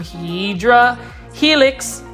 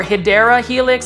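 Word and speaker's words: Hedera helix: obviously we have some hedra helix or hyera Helix somebody was telling me that's how you um pronounce it is a hyera helix but um anyways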